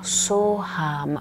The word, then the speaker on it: Soham: Un altro mantra molto famoso e conosciuto è il mantra Soham, che lo puoi ripetere in questo modo, facendo durare So in modo abbastanza lungo la sillaba So e poi Ham, So Ham, So Ham.